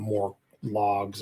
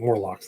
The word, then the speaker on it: Morlocks: I think I called them more logs or something. Morlocks. That's right.